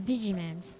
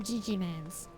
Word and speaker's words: Digimon: Uh, it's Digimon's. It's Digi I'm sorry. It's Digimon. Sorry. I I can't even say it correctly afterwards. Uh, it's it's Digimon. I call them Digim Man's because I just think that it's cute.